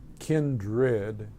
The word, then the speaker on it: kindred: to emphasize that that the first syllable of that word kin is like family kin kindred meaning family like I